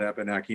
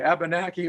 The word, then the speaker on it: Abenaki: We are enrolled in the Nulhegan Coas band of the Vermont Abenaki Nation, and proud to be so. By the way, Abenaki or Abenaki, either pronunciation is okay.